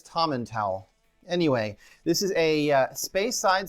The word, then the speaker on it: Tomintoul: find it anywhere so I've seen lots of pronunciations for this um tommen towel or Toman towel uh I think that's tommen towel anyway this is a